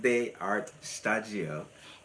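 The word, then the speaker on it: D'ART Shtajio: And so in Japanese they say studio as sta as stajio, but we say stajio.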